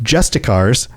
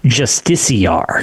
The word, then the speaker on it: Justiciar: So I was going to say, so I always say Justicar, or did say Justicar. I've heard it pronounced in game Justiciar. Justiciar, openly expressed. So I'm going to assume they know better than me, because I used to say Justicar, but the game pronounces it Justiciar.